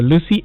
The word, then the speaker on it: Luscii: Download the Lucy app right now and connect to this service. Lucy is spelled Luscii.